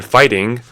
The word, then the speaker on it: fighting: cupboard so funny then fighting is f i g h t i n g you don't pronounce the G HT at all so it's